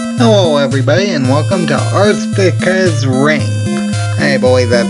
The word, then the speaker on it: Arkista's Ring: hello everybody and welcome to earth pickers ring hey boys that's how you pronounce it anyway let's start a new game